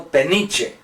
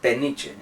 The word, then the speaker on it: Peniche: So I corrected, I said, Peniche. I said, Peniche.